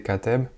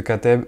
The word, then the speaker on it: Katteb: Donc, je sais pas trop comment on le prononce, mais je pense que c'est Kateb.